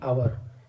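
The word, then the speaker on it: hour: जैसे कि आवर आवर में एच साइलेंट है।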